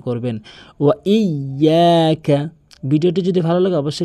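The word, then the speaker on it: إِيَّاكَ: অধিকাংশ লোক কী বলে, ইয়াকা নাবুদু ওয়া ইয়াকা নাস্তাইন। এটি সম্পূর্ণ ভুল। আপনি যদি শুদ্ধ করে উচ্চারণ করতে চান, এখানে ইয়া তাসদীদের উচ্চারণ করতে হবে, ইয়াকা নাবুদু।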